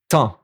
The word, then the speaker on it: temps: Temps. Quart. And you see even the P and the S is silent for these one.